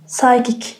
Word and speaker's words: psychic: P is silent in PS or PN word. Pilent. So nice. Good. Psycho pneumonia. Pneumonia. Psychic.